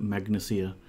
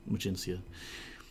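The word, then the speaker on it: Magincia: the island of new magencia emergency yeah yeah I think when we were kids we used to pronounce that magnesia but it's pretty sure definitely magencia and did mine Apprentice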